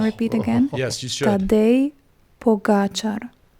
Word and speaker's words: Tadej Pogačar: So the correct pronunciation of another Slovenian rider is Tadej Pogačar. If I repeat again. Yes, you should. Tadej Pogačar. Tadej Pogačar. Tadej, almost like Sade, I love.